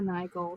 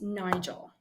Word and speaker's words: Nigol: Here to help me break this down today is Miss Nigel.